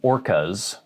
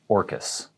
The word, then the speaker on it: Orcas: of those islands and we call it orcas island not orcas it looks like an orca whale but the plural form but we say orcas not orcas orcas island